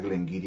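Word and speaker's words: Glen Garioch: Tobermory 12, Glengarry 12, se escribe Glengarioch, pero se pronuncia Glengarry en Escocia, hasta donde tengo entendido, Glendronach 12 y Glenallachie 12, entre otras.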